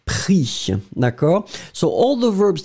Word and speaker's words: pris: Remember, final S not pronounced, so pris, P-R-I-S, but you don't pronounce the S.